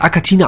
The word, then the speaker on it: Achatina: ekliges die akatina ich denk wird akatina ausgesprochen weil im Latein wird das ch wie im italienischen auch das ch ja K als K ausgesprochen und hier vorne ist das